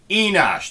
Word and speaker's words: Enosh: No, Enosh. Enosh. Say it with me. E. Na. Nah. Shh. Enosh.